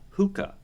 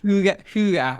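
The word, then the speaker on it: hygge: Uh, hookah is what it if I'm saying it right. Did I say it right? Huga or something like that.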